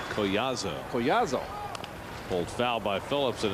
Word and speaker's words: Collazo: How you pronounce it? Colasio? Collazo.